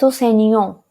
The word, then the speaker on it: enseignant: it is elle est enseignant, Jean. T is not pronounced. But in feminine, we do pronounce the T.